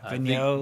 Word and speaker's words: Vigneault: David Vigneault, I don't know how to pronounce French. Yeah, Vigneault.